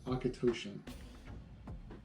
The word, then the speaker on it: Auchentoshan: And the pronunciation for this is Akatoshan.